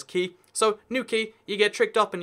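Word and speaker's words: Newquay: Ah, well, it's New Quay, right? That makes total sense. But no, this is actually New Quay. The reason for that is because it uses the key. Q-U-A-Y is how we say key in the UK, like a boat key.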